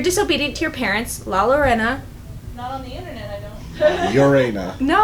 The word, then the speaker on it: Llorona: to your parents la Llorona ureña no I said it right now you didn't yes they did double Ellen silent okay whatever she's gonna come